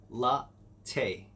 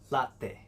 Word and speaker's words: latte: let's try it first off we have latte la tay latte latte can i get two shots of espressos